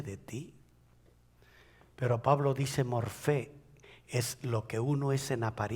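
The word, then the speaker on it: μορφή: Cuando él se refiere a Jesús diciendo siendo en forma de Dios, usó la palabra morfé o morpé, pero creo que se pronuncia F, la P, morfé, y significa lo que uno es por fuera corresponde a lo que uno es por dentro.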